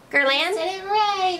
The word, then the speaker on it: Guerlain: They showed the six different brands that would be featured in there, which was Burberry, Dior, how do you pronounce the G one? The Guerlain? Guerlain.